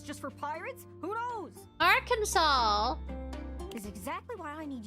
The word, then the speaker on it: Arkansas: A, E, I, O, U is why it's pronounced R. Kaw.